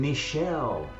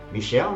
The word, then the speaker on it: Michel: This is why the name Michel is so popular. In fact, in French, you can't tell the difference between the male and female versions of the name. Michel, Michel, exactly pronounced the same.